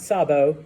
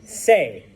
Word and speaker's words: sé: What's the yo form of saber? Not sabo, say. It is spelled just like this, S-E, and it also has an accent mark.